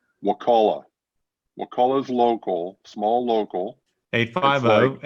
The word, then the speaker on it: Wakulla: Wakulla because I've been trained how to say it properly. I used to think it was Wakula, and then Mike taught me how to say it properly.